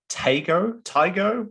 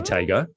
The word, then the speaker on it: Taigo: Yep, this one's the Volkswagen Taigo. How would you guys pronounce it? I'd say Taigo. Taigo.